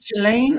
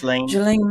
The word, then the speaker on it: Ghislaine: Ghislaine? Oh, okay. It's spelled kind of weird. So Ghislaine, yeah.